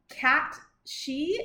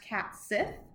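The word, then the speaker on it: cat sìth: is um the okay cat she is how I hear the Scottish people pronouncing it but in American English it would be pronounced cat Sith uh which I definitely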